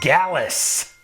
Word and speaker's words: Gallus: And the name of the stable rhymes with Callus. Who is Gallus?